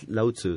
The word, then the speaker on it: Lao Tseu: osé dit voilà donc ça s'écrit comme ça ça se prononce lao tseu donc voilà le leuy se prononcent eux donc la transcription voilà